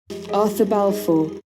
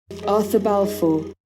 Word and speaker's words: Arthur Balfour: 이름 좀 제대로 발음된 거 들어보시죠. Arthur Balfour, Arthur Balfour, Arthur Balfour.